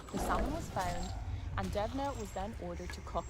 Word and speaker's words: Deimne: So his name is spelled Deimne and it's pronounced Devna.